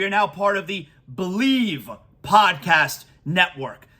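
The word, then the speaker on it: Bleav: now part of the believe podcast Network it's it's spelled b-l-e-a-v but it's pronounced believe so really excited today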